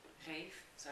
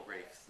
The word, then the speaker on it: Reif: But I've met a couple Reifs now. It's like a posh pronunciation of Ralph in England.